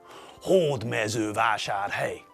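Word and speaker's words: Hódmezővásárhely: In every Hungarian word, the stress falls on the first syllable. Syllable. You all remember syllables, don't you? That's right. Syllables are sounds in a word. Hord mezu vashar hey.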